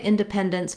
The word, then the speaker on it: independence: You also might find it helpful to start on the stressed syllable and build from there. That would sound like pendence, dependence, independence.